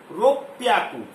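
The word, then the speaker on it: ろっぴゃく: हयाकू इज 500 600 को रो प्याक spelling देखिएगा आर ओ पी प वाई ए के यू रोपया को 700 को क्या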